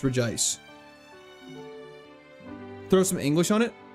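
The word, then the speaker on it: Regice: It should be Reggie ice, but there's missing an I, so it's re ice.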